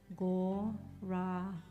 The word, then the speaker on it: Gauranga: The mantra is Gauranga, and it's said in 4 syllables. Gauranga.